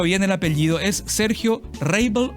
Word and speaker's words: Reibl: Es Sergio Reible o Reible. Don Sergio, ¿cómo le va? Hola, ¿qué tal? ¿Cómo anda, Farinia? Mirá, mi nombre es Sergio Reible. ¿Sí? Ajá, Reible.